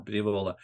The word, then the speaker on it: Diavola: Pizza Ponte came out with a Pizza Diavola, and I need to emphasize the last syllable more. Diavola.